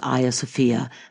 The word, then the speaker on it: Hagia Sophia: So for nearly 1,000 years, Hagia Sophia, that by the way is the Greek pronunciation, was the largest cathedral in the world.